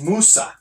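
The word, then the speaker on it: Musa: So next we got, and this one threw me for a loop because this guy's name pronounced is Moosa. It sounds like moose, but M-U-S-A.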